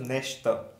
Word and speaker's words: Nächte: It is Nacht, it is Nacht, but if you put here A umlaut and this one, it becomes Nächte, Nächte.